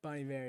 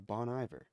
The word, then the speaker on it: Bon Iver: Is that how you say it? Bon Iver? Bon Iver, yeah. I did not know that. I thought it was Bon Iver.